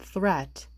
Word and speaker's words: threat: don't call it deed watch out for meat and grate and threat they rhyme with sweet and straight and debt a moth is not